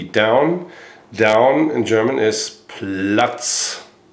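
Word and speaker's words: Platz: Down in German is plut. Plots. The next one could be heel. here in German is fouse. You would spell that probably fo o zs something like that.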